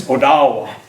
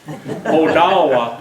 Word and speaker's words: Odawa: The Ottawa tribe? Well, that's mispronounced too. It's Odawa. Odawa is how we pronounce that word.